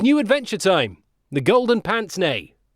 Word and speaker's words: pince-nez: The Golden Pince-Nez. Spelt Pince-Nez, but pronounced Pince-Nez. A bit of the old Francais for you.